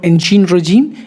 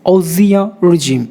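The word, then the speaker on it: ancien régime: It's not ancient regime, it's Osia regime, which means a political or social system that has been displayed by another. Osia regime.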